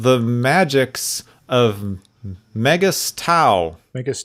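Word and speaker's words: Megas-Tu: called the magics of mega stau vegas 2 yeah magus 2 megas tau depends on how you pronounce this there's no a in there so i i don't go with the a option myself there's a guy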